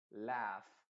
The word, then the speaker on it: laugh: abajo reírse se dice laugh. Y la GH después te voy a enseñar cómo pronunciarla también. Pero acá se dice laugh. La U es completamente silenciosa.